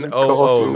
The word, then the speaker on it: Newcastle: It's N-U. Ain't no R in Newcastle. It's NOO, Newcastle.